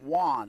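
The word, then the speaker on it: Yuan: becker don't think so kevin juan i think is how you say it yeah y-u-a-n yes you have not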